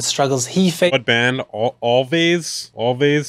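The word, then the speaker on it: Alvvays: Always, it's like always, but spelled with two V's.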